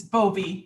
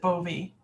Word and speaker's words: Bowie: and chief medical officer would that be or Bowie it's bovie he pronounces it bovie oh well I would